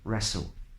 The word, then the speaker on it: wrestle: words like write or rap or rec or wrestle and things like this okay third a lot